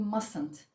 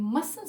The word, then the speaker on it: mustn't: But this T, we don't pronounce this T. We mustn't pronounce the T. So it would be mustn't. And we will say you mustn't smoke on the plane.